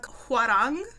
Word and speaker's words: Hwarang: It was like a historical Korean drama, Hwarang. That's how they say it in the show.